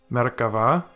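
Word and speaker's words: מֶרְכָּבָה: And this example, again the Shewa preceding the Dagesh, thus we get Merkava, which means chariot or war chariot.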